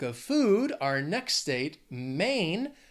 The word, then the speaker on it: Maine: food our next state Maine has one syllable just one main Maine I also think of